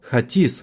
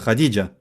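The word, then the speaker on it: Hatice: Я бы сказал «Хатис», произнося это. Нет, на самом деле Хадиджа.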